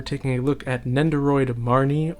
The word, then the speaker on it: Marnie: look at nendoroid marnie or the japanese pronunciation mary from pokemon sword and shield whether it's the video game or the anime whatever you want it to be it's marnie or mary because it's hard for the japanese to pronounce that n in the middle of marny money modi you see what i mean i'm gonna try